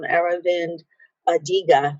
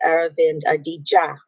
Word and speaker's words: Aravind Adiga: And if I had only sought to look at this, I pulled up Aravind Adiga, but it's Aravind Adiga.